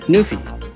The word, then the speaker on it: NuPhy: Nofi.